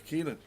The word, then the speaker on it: Keilan: Well, there's a Keelan. And it should be pronounced Keelan. What have we got? Keelan. Okay, I see.